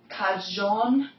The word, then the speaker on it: cagion: Cagion del mio tormento, amor se colpa tu. Very, very good. Yeah. Sometimes when I think cajon, like think of Joan.